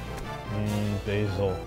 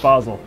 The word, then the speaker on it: Basel: you're sleeping in Canada basil it's pronounced Basel oh why can you